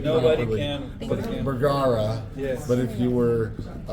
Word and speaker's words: Bergara: Bergara. Yes. But if you were really good and from Paraguay, or Uruguay, not Paraguay, Uruguay, you would roll the R's and say it correctly.